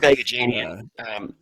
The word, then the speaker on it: Agajanian: Curb Agajanian. Yeah, that's it. Thank you. It's a weird setup, right? I mean, realistically, it's yes and no. It's weird only in that, I mean, the Curb Agajanian thing really only comes really into play during